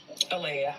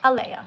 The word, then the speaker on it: Alea: How do I pronounce it again? Alea. Alea, right?